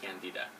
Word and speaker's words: Candida: I say Candida because that's the proper way of pronouncing Candida.